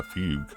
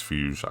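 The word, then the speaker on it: Fugue: be going for uh fug I guess is how you say I thought it was fuge I don't know why um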